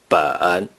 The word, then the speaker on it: 本: For book, 书, you may use the major word 本. Therefore, six books in Mandarin Chinese is pronounced 六.